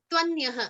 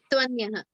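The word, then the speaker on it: त्वन्यः: So imagine it as if someone, if you were to write TV and a one after the other, how would you pronounce it? You would pronounce it as twa. Your natural tendency would be to pronounce it as twa, right? Yeah. Same, exact same logic.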